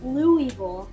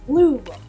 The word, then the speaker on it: Louisville: next time if you go to Derby, don't say Louisville. It's Louisville.